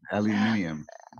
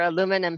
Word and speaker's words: aluminium: you say it better i like that aluminium i love that we're aluminum here in america but aluminium um across the pond and i definitely prefer